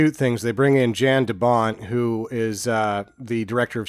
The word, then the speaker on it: Jan de Bont: and bringing in, and I don't think it's Jan De Bont, I think it's Jan De Bont because he's Dutch.